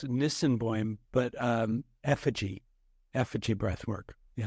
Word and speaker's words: Nisenboim: It's first of all, it's Nisenboim, but Effiji Breathwork. Yeah. Effiji is how you pronounce it.